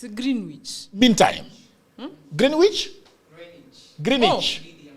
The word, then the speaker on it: Greenwich: How do you pronounce it? It's Greenwich.